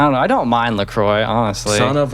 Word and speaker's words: LaCroix: What do you think LaCroix tastes like? Well, I would say it depends on which LaCroix. Isn't it actually pronounced, if you're like French, you'd say La Croix or something like that?